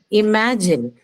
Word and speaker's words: imagine: So the stress is on the second one. So E, ma. That's the second syllable.